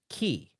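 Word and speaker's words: χ: Kingdom Hearts with the X is the Japanese only browser game, and the X in this instance sounds like key.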